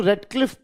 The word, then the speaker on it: Radcliffe: Now you can write further that according to Redcliffe Brown accord according to Radcliffe Brown please mind